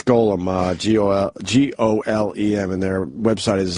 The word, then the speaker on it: Golem: Is it Gollum as in like the Tolkien Gollum, or is it Golem as in G-O-L-E-M as in the Jewish character? Goyim? It's, awkward. I think it's G-O-L-E-M, so how would you pronounce that?